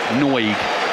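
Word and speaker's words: Nagy: one player across the front there right Adam noig is getting ready to come on surname spelled n a y I can assure you it's pronounced noig former Bristol City midfielder normally a key man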